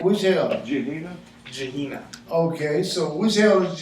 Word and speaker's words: Gehenna: I need the pronunciation from him though. I don't get it right. Which hell? Gehenna? Gehenna.